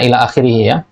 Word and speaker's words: ila akhirihi: gold onesian Ila akhirihi ini bacanya Ila akhirihi alif lam How Hamzah